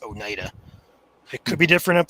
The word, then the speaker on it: Oneida: There's a road name where I live, or close to where I live, spelled just like that, and it's pronounced Oneida.